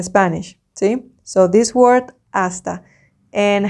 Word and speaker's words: hasta: Like when I say that, it's like the pronunciation, because remember, H in Spanish is silent. You never say it, okay?